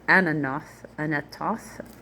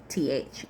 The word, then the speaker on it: Anathoth: Geba, Geba, Anath, or Anathoth. I want to say it Toth, but it's not. So Anathoth, and Almon, like almond, but with a D on the end.